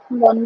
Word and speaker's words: von: Ich bin Studentin von Beruf. এই বন হবে না, ভি এর উচ্চারণ কি? ফাউল না? হ্যাঁ, ফোন তাই হবে।